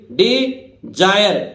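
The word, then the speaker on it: desire: इसी तरह देखिए D Jair S आई आर ई। अब देखिए एस साखी तो नहीं, ध्वनि नहीं दे रहा है, एस से क्या बन रहा है जा। ये अंग्रेज है ही ऐसे भाई, कभी एस से सा बना देते हैं, कभी जा बना देते हैं।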